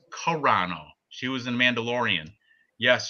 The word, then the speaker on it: Carano: Oh, and Ice Viking Serrano pronounced Carano.